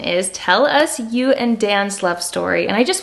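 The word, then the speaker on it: Dejan: And the J is pronounced like a Y. And there's just a little, it's not Dan, it's Dan.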